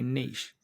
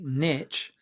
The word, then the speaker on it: niche: Now, whenever you hear the word niche, you said by an American, they very rarely say niche. Said by a rapper, they always say niche, rhymes with bitch, right?